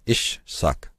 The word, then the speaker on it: Isaac: The syllable appears in names such as Isaac. This is correctly rendered ish suck, meaning man of the saka, man of the sages, the magi, the prophets, or the wise ones.